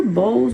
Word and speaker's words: Bose: The Bose speaker, Bose, Bowie, I think it's pronounced Bose speaker.